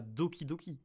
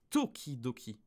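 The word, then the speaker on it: 時々: un petit peu attention c'est pas doki doki c'est tokidoki parlant ça devrait normalement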